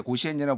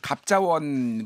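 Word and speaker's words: 甲子園: 거 같은데요 김준 평론가 이게 이제 갑자원이라고 옛날에 부르다가 요즘은 현지 발음대로 이제 고시엔이라 불렀는데 뭐 제 나이 대의 사람들도 많이 봤 갑자원 만화 많이 봤을 거예요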